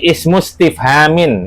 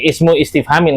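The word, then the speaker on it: اسم استفهام: he matakibarukunna ayo heeh jadi hamzah wasal ya jangan lupa seperti tadi ismustifhamin itu hamzah wasal jangan bacanya ismu istifhamin kurang tepat i ismus Paham?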